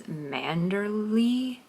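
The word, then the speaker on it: Manderley: There's an English pronunciation or American English pronunciation that says Manderly. I don't know. I feel like Manderlay.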